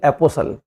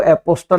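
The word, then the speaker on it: apostle: है तो उसका जब उच्चारण करेंगे तो टी को साइलेंट रखना है। यह देखिए एपोसल एपोसल का मतलब होता है मसीहा प्रचारक है ना तो इसको एपोस्टल नहीं बोलेंगे बच्चे अगर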